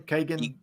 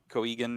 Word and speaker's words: Keoghan: Kagan. Coegan, yeah, something like that.